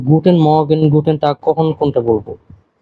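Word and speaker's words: Guten Morgen: একটা জিনিস মাথায় রাখবেন এই জায়গায় আর এর উচ্চারণটা হয় না তেমন গুটেন মগেন এমন বলে আমার সাথে আবার বলবেন নিকুটেন মগেন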